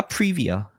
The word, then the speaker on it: Privy: 얘네 발음을 어떻게 해? 프라이비야? 프리비야?